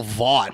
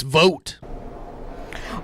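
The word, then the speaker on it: Vought: have called him Russell VA I would have pronounced it differently but it's vote well will will have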